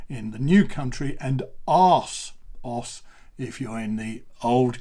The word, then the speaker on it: ASOS: Now, it's only Asos in the US. In Britain, we say Asos. Okay, so it's two separate syllables, Asos.